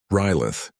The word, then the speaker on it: Riyleith: "Riyleith," Dehan repeated, giving the name the proper clicking emphasis on the first syllable.